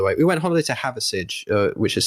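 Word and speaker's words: Hathersage: We went holiday to Haversidge, which is spelt like Hather and then Sage, Sage. All one word.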